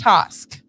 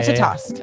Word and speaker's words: Ratatosk: Ratatosk. Yeah. Ratatosk.